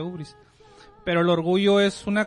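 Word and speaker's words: hybris: Se pronuncia ubris, se escribe ibris y se pronuncia ubris.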